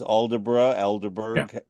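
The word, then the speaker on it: Aldeburgh: seen it in Alder is it pronounced alderra Alder yeah talk about alderra where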